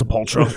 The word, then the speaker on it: Sepultura: It's kind of like Sepultura. Is it Sepultura? Is it all the different... Sepultura? It's Sepultura. Yeah, who knows, right?